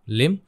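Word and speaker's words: limb: देखिए ये है लिम, यहाँ पे बी को साइलेंट रखना है, आपको सिर्फ इस प्रकार से पढ़ना है, लिम हिम, दोनों मैच करते हैं तो आपको चुपचाप यहाँ पे ए लिख देना है।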